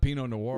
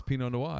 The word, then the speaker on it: Pinot Noir: Well, it's not Pinot Noir. Wow. It's Pinot Noir. It's how it's pronounced.